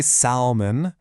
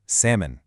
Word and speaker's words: salmon: Seriously, that L might as well not even be in the word. We do not say salmon. The correct way is salmon.